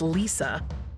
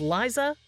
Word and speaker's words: Liza: place in show business, not as Judy Garland's daughter, or mispronounced as Lisa, and singer-actress Liza Minnelli, Judy Garland's daughter. She was Liza Minnelli, and that's Liza with a Z.